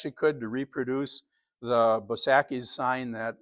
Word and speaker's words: Bosacki's: Um, it's it's I think it's a German influence in in Milwaukee and and Chicago, the way you pronounce an A.